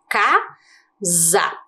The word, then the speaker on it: casa: palavra na segunda sílaba casa perceberam o que aconteceu agora com ela será que o s aqui da palavra casa é o mesmo que o sa do sabão as letras são a